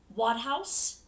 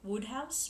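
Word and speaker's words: Wodehouse: is uh by PG I think it's pronounced wad house could be woodh house but I think wad house and this is a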